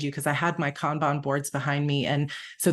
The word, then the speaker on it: Kanban: So I say Kanban board, but you'll hear some people say Kanban, which is also fine.